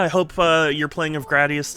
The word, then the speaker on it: Gradius: was saying there was an official, like, it's pronounced Gradius.